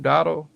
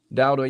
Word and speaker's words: Dowdle: Dotto? Rico Dowdle, yeah. Dowdle, yeah.